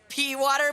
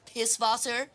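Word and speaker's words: Pißwasser: Pewater beer. Ew. Oh, it's pronounced piss voser.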